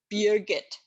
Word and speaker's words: Birgit: My name is a composite of beer, as in German beer, and Git, as in GitHub. Beer Git, developer's delight, actually.